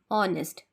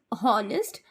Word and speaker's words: honest: n e s t honest right actually the pronunciation is honest but we are pronouncing it as honest as H is silent so as H is